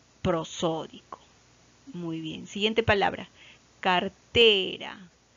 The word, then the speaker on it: cartera: Cartera. Cartera. La sílaba tónica recae en la última, en la penúltima sílaba, en T.